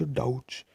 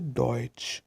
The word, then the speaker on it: Deutsch: German word deutsch that's why we do not pronounce ad ouch we pronounce a deutsch which means German and our second if tongue